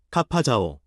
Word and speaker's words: ข้าพเจ้า: 공식 연설이나 의식과 같은 극도로 격식적인 상황의 경우 ข้าพเจ้า 카파자오, 중간 음절을 강조처럼 들립니다.